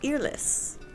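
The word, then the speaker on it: Eirlys: House earless is spelled E I R L Y S.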